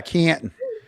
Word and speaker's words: Canton: n Canton you you it's a silent T though right yeah no it's yeah Canton so um I'm throwing